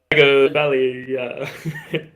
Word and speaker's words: Tagovailoa: It's Tagovailoa.